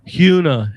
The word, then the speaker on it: Hyuna: Hyuna is actually how you pronounce her name.